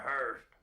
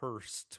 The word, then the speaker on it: hearse: an ambulance or a hearse. Thank you. Classic. And uh yeah, I like I love how both of them mispronounce H hearse as Hurst with a T on it.